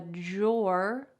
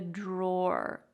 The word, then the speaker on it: drawer: is with this word how do you say that word is it drawer no instead there's two different ways they're very close that we can pronounce this word you might say i put my clothes in the drawer with a j sound or i put my clothes in the drawer drawer with a little bit more of a clear